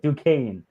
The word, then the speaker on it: Duquesne: And And it's- Duquesne and Duquesne. That's how you say it. Duquesne.